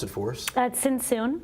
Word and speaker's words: Tzntzun: Tzntzun. Tzntzun, so the T is silent.